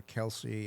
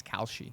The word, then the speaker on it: Kalshi: And and again, you got two main players there, Kalshi, I think it is, and Polymarket are the two that do it.